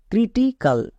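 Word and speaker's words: critical: দেবো তাহলে কি দাঁড়াবে সি আর আই ক্রি টি আই টি সি এ এল কাল ক্রিটিকাল বোঝা যাচ্ছে রুলসে আছে তবুও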